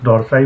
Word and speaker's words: dorsi: Latissimus डॉर्साई बोलिए या latissimus डॉर्सी बोलिए, जिस भी तरीके से आप प्रोनाउंस करना चाहते हैं इसे।